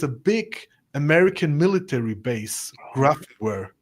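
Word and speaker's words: Grafenwöhr: big American military base, Grafware. The Americans say Graf.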